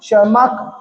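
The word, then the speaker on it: Tschermak: वॉन शर्माक T silent है बेटा।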